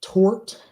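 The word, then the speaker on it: torte: So what's the difference between a tort and a tart? One is an A and one is an O. Sorry. One rhymes with court, and one rhymes with fart.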